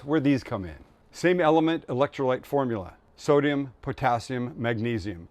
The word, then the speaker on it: LMNT: And that's why today's video is sponsored by Element, pronounced Element, just like it looks.